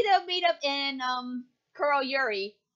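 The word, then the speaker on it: Kuroyuri: sure but maybe they'll meet up in um KL Yuri H said it right this time Carl Yuri and help Ruby will team Ranger Bend off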